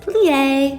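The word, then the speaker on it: plié: learn we plie you say it like this plie can you say that plie then be jette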